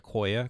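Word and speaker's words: IQOYA: a look at what these codecs are it's pronounced akoya crosslink and servlink and the crosslinks are typically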